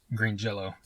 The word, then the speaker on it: Green Jelly: They changed it to Green Jelly, and then they said, but it's pronounced Green Jello. So even though it's spelled Green Jelly, it's still pronounced Jello.